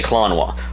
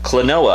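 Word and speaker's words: Klonoa: the clone war colon i've heard people say klonois clanoa i think it's how it's pronounced the clinoa series is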